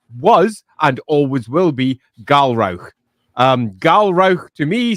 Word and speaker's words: Galrauch: Galro, not Galro because screw pronouncing it with a ch because I don't want to have Gal the grouch in the corner.